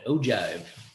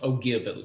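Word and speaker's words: ogive: has a cool name it's called an O Jive you know anything with the word jive and it's got to be cool it's spelled with a G though oh give what it looks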